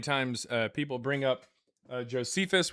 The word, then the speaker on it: Josephus: Oh, this is how many times uh people bring up Josephus, which most people pronounce as Josephises because they've never actually read Josephus.